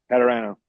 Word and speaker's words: Padurano: Today's special guest is Padrano. Is that how you say it? Yeah. Closer than any of my teachers throughout school. So, you're good. How do you pronounce it? Padrano.